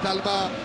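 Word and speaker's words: Dalmat: Il faut bien dire Dalma, pas prononcer le T.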